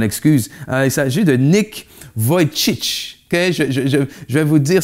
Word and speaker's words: Vujicic: Il s'agit de Nick Vujicic. Okay? Je vais vous dire, son nom de famille se prononce V-U-J-I-C-I-C.